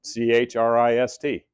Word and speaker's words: Christ: His name, he goes by Chris, but that's how he spells it, C-H-R-I-S-T. Technically, it's Christ. That's how he pronounces it.